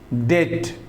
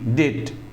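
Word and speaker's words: debt: फिर से सुन लीजिए जब किसी भी इंग्लिश वर्ड में बी के बाद टी आता है तो बी सेलेंट रहता है जैसे डेट डी ई बीटी डेट जानते हैं कर्ज होता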